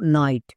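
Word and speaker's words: night: নেব তিন নম্বর word pattern IG এইচটি এর জন্য উচ্চারণ হয় আইট যেমন এক্সাম্পল দেখো নাইট এখানে শব্দের শেষে ওয়ার্ড প্যাটারন আছে আইজি এইচটি এর জন্য আইট হবে তাহলে এন এন এর জন্য দন্তন আইজি এইচটি ওয়াট প্যাটেন এর জন্য কি হবে আইট দন্তন প্লাস আইট নাইট এরকম করে যদি উচ্চারণ করো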